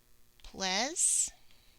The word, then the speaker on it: pleasant: Pleasant. Pleasant. When two vowels go walking, the first one does the talking, so you don't hear the A. And then this one almost has that schwa sound.